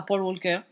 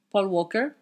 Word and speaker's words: Paul Walker: Alors, le revoir à Paul Walker. Paul Walker. En anglais, on ne prononce pas le L.